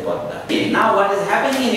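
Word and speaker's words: পদ্মা: We write Padma, but say Padda.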